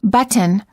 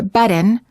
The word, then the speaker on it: button: the tea for example we don't say button or button we say button hold the T as in but and then add an mmm without releasing the tongue from the gum Ridge but mmm similarly don't